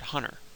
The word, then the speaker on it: hunter: For instance, if you say the word hunter, there's no T at all in that word, although it's there in our brains, we're just not actually realizing it.